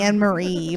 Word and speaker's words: AnnMare: It's really Anne Marie, but there's no E at the end of Anne, and there's no I at Marie, and there's a fucking accent over the E.